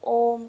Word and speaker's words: ओम: जैसे ओम जो है वो अ उ और म से मिलकर बनता है, तो हम उस तरीके से तो उच्चारण नहीं करते, हम डायरेक्ट ओम करके बोलते हैं। तो संधि हो गई ना उसकी, और उमा बन करके ओम ही बन गया ना।